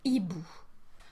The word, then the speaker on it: hibou: So, words starting in H have been divided into two categories, depending on whether they start with a silent or mute H, le H muet, or an aspirated H, le H aspiré.